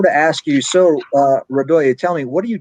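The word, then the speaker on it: Radoje: a mess because r-a-d-o-j-e but that j is pronounced as it as uh radoya okay i got it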